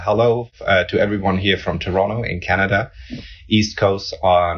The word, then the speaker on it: Toronto: you've got the uh the city name pronounced correctly as well without the T Toronto exactly yeah he's really